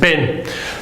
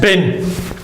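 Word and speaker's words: بٍ: below, and it's pronounced bin. So tanween fathin is pronounced ban, tanween kasrin is pronounced bin.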